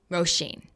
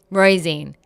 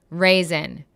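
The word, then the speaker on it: Róisín: It is spelled different than it is pronounced, and no one could ever get it right. Roisin, Raisin.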